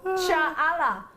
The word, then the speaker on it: challah: Helen in Merseyside, no, it's pronounced like the Loch. Perfect example. Oh my god. I'm glad you know. Cha'ala. Just Cha'ala. Just the chit sound and add Allah.